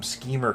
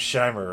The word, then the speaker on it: Scheimer: And then I said, as a kid, I used to call them Schemer cartoons because I'd see the name Scheimer, and but I didn't.